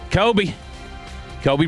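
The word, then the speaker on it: Coby: decent deal this offseason, Kobe Bryant. That's literally his name. It's spelled C-O-B-Y, though.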